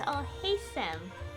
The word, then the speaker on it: Alhaitham: Okay, so it's pronounced Alhaitham. I pronounced the middle syllable differently before.